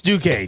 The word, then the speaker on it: Duquesne: It's Duquesne. This man is a college scholar. Unbelievable. Yeah. College of the Canyons. Who they playing at? Duquesne.